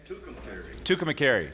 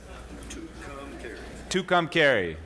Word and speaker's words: Tucumcari: Tucumcari. Did I say it right? Tucumcari.